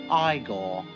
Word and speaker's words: Igor: also features marty feldman as igor now it's pronounced igor but they told me it was eagle well